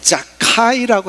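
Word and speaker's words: זכאי: 히브리어로 자카이라고 하는 이 단어는 의롭다라는 뜻이에요. 자카이의 이 한국식 발음이 삭개오로 이제 바뀐 건데, 한번 보세요.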